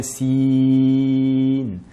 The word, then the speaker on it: سين: Bien veillez ici pour la lettre Sin à ne pas prononcer donc l'allongement avec le nasillement. Si, mais bien Sin.